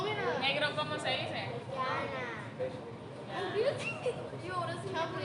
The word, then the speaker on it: yana: Yana.